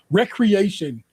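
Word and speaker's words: Wreckreation: Wreck Nation, no, recreation, but spelled like a wreck, a car wreck was another racing game this year.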